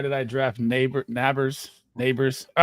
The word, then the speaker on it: Nabers: we doing why did I draft neighbor nabers Neighbors all right how do you say Malik's name